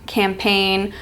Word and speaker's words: campaign: design campaign and align see how the g is silent you don't say design or campaign or align you say design campaign align so when that g is before an N at the end of a word most of the time it should be silent we have the initial